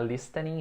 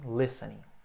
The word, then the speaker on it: listening: Lembra que esse T na pronúncia muda, não é listening e sim listening.